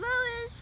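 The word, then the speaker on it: ROUS: Caplin Rollus was one of the world's best-known capybaras. The second part of his name, pronounced like rose, stood for a rodent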